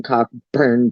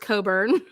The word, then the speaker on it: Cockburn: town when it's pronounced coburn. Ah, we're going with All right. Put that on a t-shirt. When it says cockburn, we say coburn.